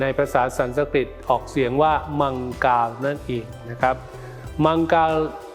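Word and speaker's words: मङ्गल: อังคาร ที่ ใน ภาษา สันสกฤต ออก เสียง ว่า มังกา นั่น เอง นะ ครับ มังกา เทพ หรือ มงคล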